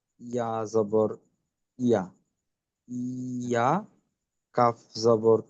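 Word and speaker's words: إياك: ইয়া, তারপর কাফ জবর কা, ইয়া কা, নুন। আচ্ছা, উচ্চারণটা কিন্তু আরেকটু স্পষ্ট, ইয়াকা না বলে ইয়াকা, এমন।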